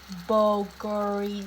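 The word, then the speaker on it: bulgogi: to need the most important ingredient is Bulgari boguri sauce and it's spelled b-u-l-g-o-g-i um basically is a Korean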